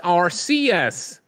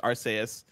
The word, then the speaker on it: Arceus: chat is divided uh warthog one five five says it's rcs yeah it seems yeah i'm that's what i'm finding people are saying rcs then another thing that says arceus i'm not gonna worry about it i think it's a soft c though it might be